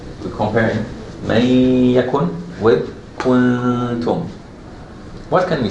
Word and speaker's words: كنتم: I'm saying kun, but I didn't pronounce the ta yet. Kuntum. When I finish the two haraka, then I pronounce the ta. But here, when I say may, I already pronounce the ya. So basically, I'm doing the two haraka right here, in this area. But here in the kuntum, I'm doing the two haraka before the ta.